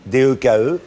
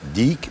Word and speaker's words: Deke: Il s'appelait Dick, D-E-K-E, et qui se prononce Dick, mais en Voilà. français, ça aurait fait Deke ou Ouais. Dek.